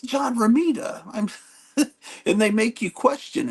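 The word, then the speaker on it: John Romita: know people on YouTube he says John R raida and I'm thinking what am I saying it wrong but he's a kid no it's it's John Rita and they make you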